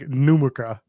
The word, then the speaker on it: Numurkah: And I'm sure it's pronounced like Numurka. Numurka.